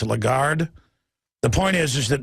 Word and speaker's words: Lagarde: think pronounce her name I always say look Garron but it's Lagarde the point is is